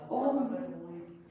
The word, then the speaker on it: Om: Om is 3 syllables. Om sind 3 Silben. A, U, Ma.